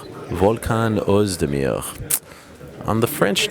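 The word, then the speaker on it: Oezdemir: He also tells me that it's Uzdemir, but I did speak to Volkan yesterday, and he gave me the old French name. The way he says it is Uzdemir. Volkan Uzdemir.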